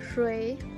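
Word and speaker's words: 水: La primera de ellas es agua, que se pronuncia shui.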